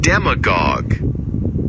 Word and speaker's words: demagogue: Demagogue. IPA dem-a-gog.